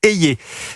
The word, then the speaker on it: Hayer: l'annoncions le weekend dernier Valérie eyé c'est comme ça que ça se prononce est une eurodéputée de